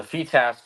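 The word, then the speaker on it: FITASC: Open, it's the second biggest tournament every single year, and for the FETASC event, I won both the junior and the open concurrent.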